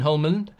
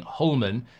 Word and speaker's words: Hjulmand: going to call him hullman um based on what Rasmus said is that that you don't pronounce the d at the end but that might just